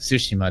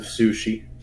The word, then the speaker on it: Tsushima: Oh yeah, and then there's of course Ghost of Tsushima that came out. That's also been taking up a lot of my time. Yeah, Ghost of Sushi. I mean, it's pronounced Tsushima, but yeah.